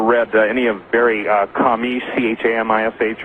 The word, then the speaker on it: Chamish: Yes, and interestingly enough, really interestingly enough, I don't know if you've ever read any of Barry Chamish, Chamish, or some people pronounce his name Shamish, from Israel, but he's